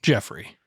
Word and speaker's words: Geoffrey: It's not Jeffrey though. Like what's on your birth certificate? Jeffrey.